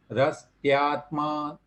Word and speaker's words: रस्त्यात्मा: तो यहाँ पर यह की ध्वनि भी आनी चाहिए। आपने जब उच्चारण किया था तो यह मिस हो रहा था उसमें, तो आपको यह भी जोड़ना है, रस्त्यात्मा ऐसा उसमें बोलना है, रस्त्यात्मानादिबद्धः ऐसा।